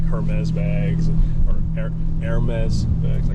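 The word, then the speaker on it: Hermès: It's not Hermes. Okay. Yeah. Hermes. The H is silent, apparently.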